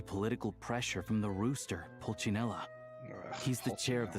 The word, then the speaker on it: Pulcinella: I thought it was Puccinella. Since when is it Pulcinella? Have we been saying it wrong this whole time?